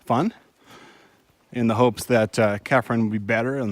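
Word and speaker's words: Chephren: Cirque and Kefren, spelled with a CH.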